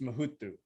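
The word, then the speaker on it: Muhudu: but it's pronounced mahutu so it's like kind of like mu and then the do is pronounced with like a th instead of a d but you don't emphasize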